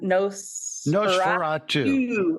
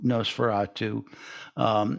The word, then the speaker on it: Nosferatu: So should we talk about the other song, the song that you wrote, the Nosferatu? I said it right? That's Nosferatu.